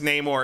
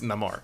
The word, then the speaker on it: Namor: right um so okay his name is Namor except when he says it and it's Namar yeah um I thought